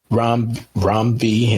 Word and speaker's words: Ram V: This issue was okay, but compared to the previous issues that Ram V, I gotta make sure we say it right. It's Ram V, not Ram V.